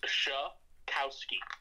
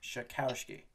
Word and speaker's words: Czajkowski: It's pronounced Czajkowski. Czajkowski.